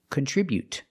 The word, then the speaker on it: contribute: Remember to put the stress on the second syllable.